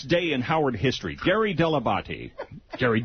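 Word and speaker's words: Dell'Abate: Also this day in Howard history, Gary Deabati, Gary Delabate, as he used to pronounce his name, hired a show producer on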